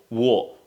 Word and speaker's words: war: say whenever you see let me tell you something whenever you see W plus a that a in English is pronounced as o in British accent I mean in British accent we say w war war let's write down some example for example it's just like saying water it's water it's not water it's